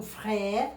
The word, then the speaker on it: frère: Entonces yo digo, mon frère, entonces mon frère, acento grave, que tengo que, al contrario del español, quiere decir que al pronunciar esta sílaba, debo abrirla.